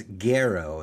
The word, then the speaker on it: Garrow: That's why we have one of San Francisco's newer, best and brightest, Sophia, and it's Garrow. Am I saying it right? You're nailing it.